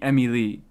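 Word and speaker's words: Emilie: I still call her Emily. I kept trying to click her and I just kept missing when like the the the stress should be Emmy Lee, but I don't I'm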